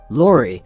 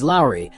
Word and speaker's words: Lauri: Lori, who many people mistakenly pronounce as Lori, has even clarified that the correct pronunciation is as Lowry, like the Spice or Mike Lowry from the movie Bad Boys.